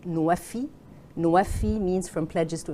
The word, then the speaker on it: NWFE: It's NWFE. It's pronounced in Arabic Nuwafi.